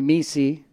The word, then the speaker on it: Mesi: dr pete saying my name correctly it's mesi some people have trouble with my last name